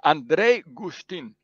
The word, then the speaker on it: Andrej Guštin: Today I have a friend from Slovenia, my friend Andrej Guštin. How do I pronounce her name? You just teach me a second ago. Yeah, it's Andrej Guštin.